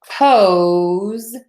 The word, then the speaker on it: pose: here again okay so pose is a long o pose and then this is pause with a short o pose pose pose pause those